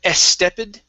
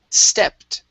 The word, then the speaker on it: stepped: Here you said estepid. Okay, so two things. We're only going to pronounce an S at the beginning, so instead of S, it's S. All right, and then this ED sounds like a T. So this is stepped.